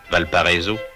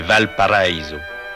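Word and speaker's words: Valparaíso: ce que l'on prononce affreusement à la française valpariso c'est valpariso la vallée paradis paradis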